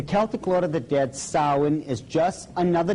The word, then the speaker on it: Samhain: Now, when you look at the name, it looks as if it's saying Samhain or something like that. No, no, no, no. This is properly pronounced in the ancient Gaelic as Samhain. Samhain, according to occult tradition, was the Lord of the Dead.